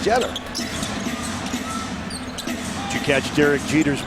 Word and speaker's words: Jeter: stop and pop is spelled just like Derek Jeter but it's not Jeter it's jeder did you catch Derek